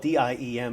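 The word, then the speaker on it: Diệm: Last name is spelled D-I-E-M. It is pronounced Diem.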